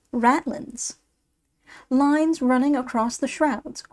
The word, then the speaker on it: ratlines: Ratlines, pronounced ratlins.